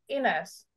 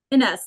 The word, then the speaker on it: Ines: or I would have to say, I'm sorry, you'll have to correct my pronunciation for your name, Ines. How do you say your name? Ines. Ines.